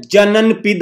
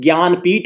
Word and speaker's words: ज्ञानपीठ: बात करते हैं जननपीठ award. जननपीठ, नॉट जननपीठ, इट इज ज्ञानपीठ award.